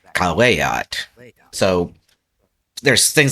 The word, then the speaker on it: caveat: So the word caveat is actually caveat.